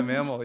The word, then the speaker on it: MaML: podcast i uh i mainly love the the mammal concept is that how you say it man yeah mammal yeah okay all right good um very creative